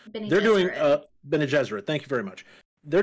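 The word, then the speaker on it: Bene Gesserit: the the sisterhood i never remember how to pronounce the bennett zarya or whatever whatever it's called they're doing uh ben jesuit thank you very much they're doing a tv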